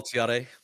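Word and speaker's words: Thiaré: How do you pronounce his name? Is it Yeah, Jamal Tiare.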